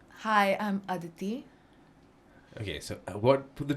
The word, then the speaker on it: Aditi: is today am I saying your name correctly adii did I say it wrong hi I'm Aditi okay so what were the two things have